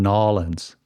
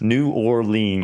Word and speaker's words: New Orleans: I was born in Nolens. In Nolens, Louisiana. For all those folks out there that are not familiar with okay, I can say New Orleans. New Orleans.